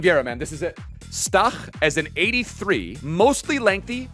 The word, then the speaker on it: Stach: Pronounce his name correct. He's German. Stach.